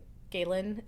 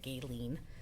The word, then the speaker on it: Galin: I know I do galin is not a common name no very easy to mispronounce usually I get gayen I understand it but